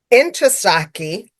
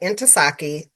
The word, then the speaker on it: Ntozake: So Inasaki cuz director in because it was like into saki. So I had to learn how to say it like that. Inasaki.